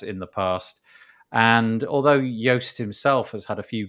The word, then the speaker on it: Joost: His name, despite the fact that it's spelt Joost, is pronounced Yoast.